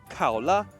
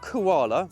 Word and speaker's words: Kaola: back end of the Kaa yes that is its name it's not koala although it is in Chinese Kaa is the Chinese pronunciation of koala so very animal themed